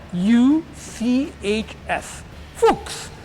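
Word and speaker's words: Fuchs: you see a guess hooks so it sounds a lot like a rude word you know but it's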